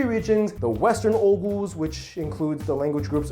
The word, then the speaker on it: Oghuz: I've heard it pronounced Oghuz. Like you don't pronounce the G, whatever.